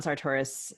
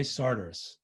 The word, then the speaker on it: Sartoris: down to Mississippi, and the people at the Faulkner conference in Oxford say Sartoris. Too bad for them. I'm not changing. Okay. Well, I've been told that Sartoris is in effect my Yankee pronunciation, and I'm gonna go with the local version.